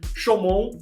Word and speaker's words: Chaumont: Aprendi com esse senhor aqui a pronúncia correta. Chaumont, time do Líbero Tales, fazendo a sua estreia internacional na Liga Francesa.